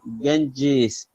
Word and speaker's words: Ganges: these words once again remember in ganga it's actually after the spelling is correct ganges spear but we don't pronounce uh what it is written you know it's e but pronunciation is g genji's it's longi you know after j it's long e so thank you very